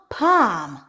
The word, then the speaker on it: palm: With some accent, they actually pronounce the L, almond. So please keep this in mind. B-am, bam. K-am, calm. P-am, palm.